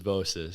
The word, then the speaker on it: Bossis: I've been saying Vosus this whole time like an idiot. I was so scared to make a post about them because I didn't want to say their name wrong. So, you made sure to clarify. Yeah, I made sure to clarify that it was Bossis.